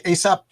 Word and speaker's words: ASAP: These are all the first issues of how do you say, ASAP Publishing? Yeah, ASAP.